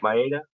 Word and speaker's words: Maeda: I take that back because I'm gonna go Kenta Maeda, if that's how you pronounce his name. Maeda, yeah. Maeda.